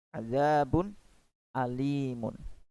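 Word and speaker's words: عذاب أليم: Jika bertemu dengan hamzah, maka membacanya pun harus jelas. Contohnya pada lafal azabun. Nah, perhatikan. Di sana ada tanwin domah. Azabun, kemudian berjumpa dengan alif. Ya, maka dibaca jelas.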